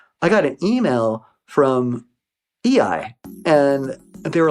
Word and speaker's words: eEye: EI was a cybersecurity company based in California. It's spelled EEYE, EI.